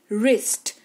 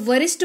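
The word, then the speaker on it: wrist: बाद आर आ जाए डब्लू के तुरंत बाद आर आ जाए तो डब्लू का उच्चारण नहीं किया जाता यानी कि डब्लू जो है वो साइलेंट रहता है जैसे कि रिस्ट डब्लू का उच्चारण क्या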